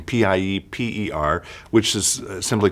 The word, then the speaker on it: Pieper: in my library by a gentleman named Joseph Pieper, I believe is how you say his name, Pieper, which is simply called A Guide to St.